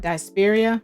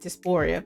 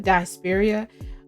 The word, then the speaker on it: diaspora: as a team now I mispronounced this word earlier it's I think it's called desperia I I said Doria but dispera um there's a book